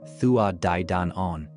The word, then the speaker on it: Tuatha Dé Danann: Tuatha de Danan, pronounced Thuad Da Danon, translates literally as the tribes of the goddess Danu or the people of the goddess Danu.